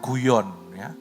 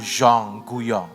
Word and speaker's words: Guyon: bernama Madame Jonggol Young Bacanya jangan guyon Madam Zhong guyon ini basah frongse bahasa Perancis dia itu seorang yang